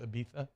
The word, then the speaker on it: Ibiza: It's actually pronounced Ibiza, Mario.